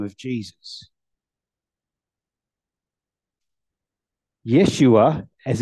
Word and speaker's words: Yeshua: even more so in this name of Jesus Yeshua as it's originally pronounced means the Lord saves the messiah's name